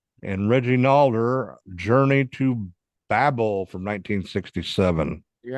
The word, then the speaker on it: Babel: And Reggie Nalder, Journey to Babel from 1967.